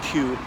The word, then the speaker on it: Kew: What else about that place in Kew? Spelt K-E-W, but pronounced Q, like the letter Q.